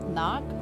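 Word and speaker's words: Knaak: bch his last name knock I don't feel like I pronounced the first K when I was first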